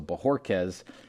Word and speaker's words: Bojorquez: have to apologize because i believe i was saying his name wrong when we brought it up last week so bajorquez is the proper penunci pronunciation we got a chance